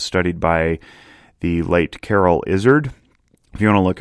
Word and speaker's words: Izard: by the late carol izzard if you want to look up more about him his name is spelled with two r's and two l's c-a-r-r-o-l-l izzard like a lizard but without the l uh he studied emotions